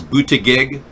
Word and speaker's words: Buttigieg: The fact of the matter is Pete Buttigieg is, the correct pronunciation is Buttigieg, believe it or not. I've been to the French pronunciation center. We've analyzed it. Pete Buttigieg is a French name, and it's Pete Buttigieg.